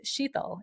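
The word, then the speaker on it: शीतल: the way my name is said in Hindi, it's Sheetal. It's a very kind of unique alphabet that not everybody can say. I bet you're saying it to yourself right now. My husband can't pronounce it properly. My East Indian brothers and sisters say it right because they understand the language, and language is so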